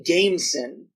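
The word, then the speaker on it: Gamecen: Like maybe it's supposed to be Gaesen, but they all say Gameson. Yeah, they do, and also I checked the subtitles. Oh, you checked the subtitles? Yeah. It is spelled Gameson in the subtitles? Yes. It's spelled the word game, and then C-E-N.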